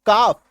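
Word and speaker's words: calf: एल है काट दो एल को अब पढ़ो काफ बी एच ए एल एफ है ना अभी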